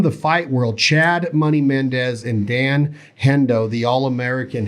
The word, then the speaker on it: Mendes: is like even the guy said it right mendes they had they said hendo is one of